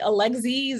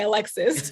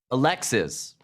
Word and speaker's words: Alexis: They always say like Alexis or they do sometimes say Alex. I have to correct them, of course, and say Alexis. It's Alexis.